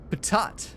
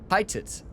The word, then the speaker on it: pitot: Patat. Pitot.